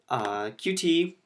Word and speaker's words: Qt: bun was pressed but QT especially pronounced cute so cute has a